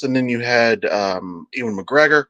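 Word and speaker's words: Ewan McGregor: then you had uh Ian McGregor I think Yan McGregor I think is correct pronunciation um but if we're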